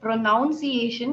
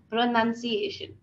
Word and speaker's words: pronunciation: it's a wrong pronunciation even the word pronunciation is wrong it is pronunciation okay so we will